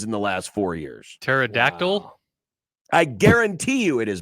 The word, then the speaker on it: pterodactyl: the last four years pterodactyl I guarantee you it has been done people forget that the p is silent and pterodactyl it's not pterodactyl pterodactyl